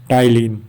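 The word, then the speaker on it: ptyalin: pre cursor of एलेस तो यह हम पढ़ते हैं टाइलिन इसमें पी साइलेंट रहता है दूसरा पॉइंट है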